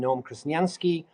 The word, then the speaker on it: Noam Krasniansky: first I you say my name right I'm Noom kranski I am I'm a blockchain expert because I